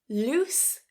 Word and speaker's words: loose: Loose loose. So that ending is a s, it's voiceless, loose. The second one lose lose. You hear the difference? Loose. That second word has a voiced s a t the end.